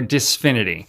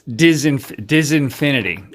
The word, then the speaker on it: Disinfinity: Is it Disinfinity or Disfinity? I think it's, hold on. It's Disinfinity.